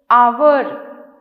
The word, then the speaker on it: hour: Some words begin with silent letters. Silent letters like honest, our, HONEST, honest. H से शुरू हो रहा है, but H is silent.